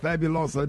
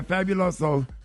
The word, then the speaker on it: Fabuloso: uh bottles of of fabulosa did I pronounce it right yeah fabulosa yeah fabuloso just take a knife